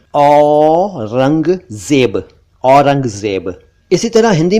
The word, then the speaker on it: औरंगजेब: एक मुगल बादशाह का नाम है औरंगजेब, औरंगजेब नहीं, औरंगजेब, औरंगजेब।